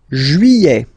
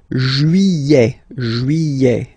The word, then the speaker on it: juillet: Juillet. Okay, you get this double L here. Juillet. Don't pronounce this final T, E-T here at the end.